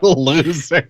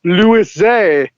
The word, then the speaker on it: Loser: Loser. Hey, that's what everybody calls me. It's pronounced Louis Zay.